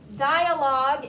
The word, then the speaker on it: dialogue: n c u a t i o n dialogue is d-i-a-l-o-g-u-u-e sorry d-i-a-l-o-g-u-e if you see a